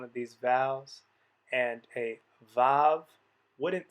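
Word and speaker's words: ו: corresponds to that one we are going to pronounce it with a v sound which is how modern speakers of hebrew pronounce it that means that technically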